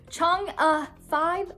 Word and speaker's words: Chang'e 5: China's Chang'e 5 moon sample. I got the pronunciation right this time.